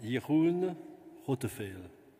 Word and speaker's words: Jeroen Rotteveel: It's a Netherlands Dutch language, so you should pronounce Jeroen Rotteveel.